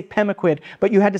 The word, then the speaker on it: Pemaquid: say bogwood or and I'm not even saying sure I'm pronouncing it right because the stress is on the first syllable and a slight Lil up on the last one right does that feel